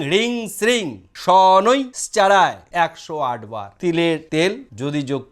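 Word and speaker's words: শনৈশ্চরায়: এই সনৈ শ্চাড়ায়, সনৈ উচ্চারণ করে তারপরে শ্চাড়ায়, প্রোনাউন্সিয়েশন সঠিক হবে ওং ঐং হ্রিং শ্রিং সনৈ শ্চাড়ায় 108 বার।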